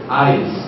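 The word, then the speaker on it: εἰς: dito ay yung Greek na salitang eis pronunciation is eyes no ang kahulugan nito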